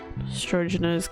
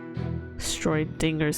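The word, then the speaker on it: Schrödinger: Could also be what the Strogener's cat, you know, don't know what it is till it's extended. Fair enough. Stroidinger's cat. I don't know why I pronounced it as the way it was before.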